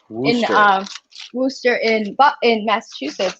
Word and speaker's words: Worcester: that's true they they actually the city worcester wooster in uh wooster in massachusetts it's pronounced rooster and i was always like worchester we're going to warchest and we're like no